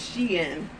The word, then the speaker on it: Shein: Some people pronounce it differently, but I'm sure it's she in.